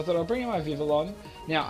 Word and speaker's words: Vivillon: So I thought I'll bring in my Vivillon. Now, I call it Vivillon, but I found out why it's called Vivion is because Papillon, or Papillon, is spelt with a double L.